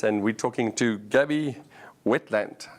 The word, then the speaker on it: Wentland: So I'm here at the MeCaht conference and we're talking to Gaby Wentland. How did I pronounce it correctly?